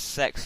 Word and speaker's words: CeX: what we're talking about it's spelled like c e x like c e x not response it says sex as well it's so weird like sex it's hilarious but it's